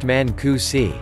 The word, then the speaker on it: Mancusi: Emmys mari is pronounced like the name mary Mancusi is pronounced Manku see what fed my addiction King Arthur I love